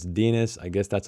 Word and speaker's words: Denis: yeah here we go whose name everybody pronounced a rhyme with penis so it's Denis I guess that's how